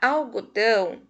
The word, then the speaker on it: algodão: o som nasal porém na palavra algodão o dão é a sílaba mais forte e já na palavra